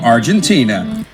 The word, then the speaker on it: Argentina: Until Bridget gets a letter from Argentina. 지금 발음 들으셨나요? 아르헨티나라고 우리 발음하지 않고 아르헨티나, 젠이라고 해요.